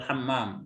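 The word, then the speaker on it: حمام: Ilal hamam atau ilal hammam? Ilal hammam. Tafadhol, ya. Jadi beliau mau ke kamar mandi. Al-hammam, ya, pakai mim bertanya.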